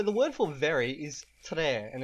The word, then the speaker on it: tre: So the word for very is tre, and it's spelled T-R-E, tre, tre.